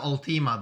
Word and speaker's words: Ultima: chaos wave chain for the upcoming term its ultimate I thought you weren't doing pronunciation you ready uh no it's all team